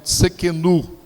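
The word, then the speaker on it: Tsidkenu: É uma pronúncia um pouco mais difícil, eu posso pronunciá-lo errado, mas é mais ou menos Tsekenu.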